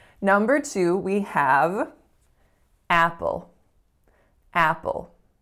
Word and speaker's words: Apple: we have Apple Apple so again there's a dark L at the end of this word which is very very particular but also I want you to pay attention to the tension in the first vowel so it is not a pure up sound I'm not saying Apple I'm saying ah Apple Apple next up number three